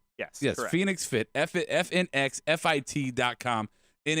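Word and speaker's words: FNX Fit: fit Phoenix fit it's spelled FNX but it's pronounced yes yes Phoenix fit FF in x-fi t-dot-com and if you are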